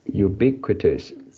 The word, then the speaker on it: ubiquitous: Ubiquitous. And I forgot how you pronounce, but it seems like the qui here. Yeah, you didn't pronounce qui.